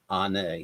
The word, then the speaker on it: Onae: Onae. There you go. Hi. Long time no see. How you doing? You pronounced it beautifully.